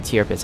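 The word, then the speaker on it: Tirpitz: to your pits you want to call it a tear pits I think I should call it a tier bits I think it's a proper pronunciation for that ship but the tier pits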